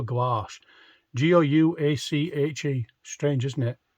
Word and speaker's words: gouache: G-O-U-A-C-H-E. Strange, isn't it?